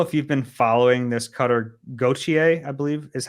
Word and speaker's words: Cutter Gauthier: I don't know if you've been following this Cutter Gauthier, I believe is how you pronounce his last name, story, the Flyers dude.